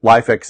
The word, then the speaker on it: LIFX: how to setup a lifx bulb and thank you to my viewer who pointed me the right direction I was saying LIF X but life x is is one of the pronunciations so that's what I'm